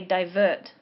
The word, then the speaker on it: divert: you say divert or would you say divert divert so the emphasis on the second syllable oh okay yeah so